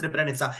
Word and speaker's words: Srebrenica: Opening opposition cannot set their case in that way, and yes, it's pronounced Srebrenica if you want to run that example.